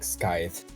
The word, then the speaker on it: Skyth: map someone named, and my friends, being like 12 at the time, they're just so dumb they pronounced it Skyth, and I was like,